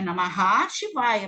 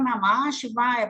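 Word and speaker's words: नमः शिवाय: Ou então aquele sande de pronúncia, porque está Namah Shivaya, é Namaha Shivaya, mas a gente fala Namah Shivaya por causa do S, né?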